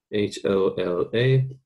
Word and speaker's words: hola: bit harder in spanish the h's do not have a sound they are silent this is like going back to ola i spelled um h-o-l-a h doesn't have a